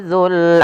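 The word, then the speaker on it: ذو: Kemudian wal habbu dzul asfi, yang dimana di sini pada lafal dzul, hati-hati dalam pelafalan huruf za-nya, jangan sampai terbaca dengan zai kembali.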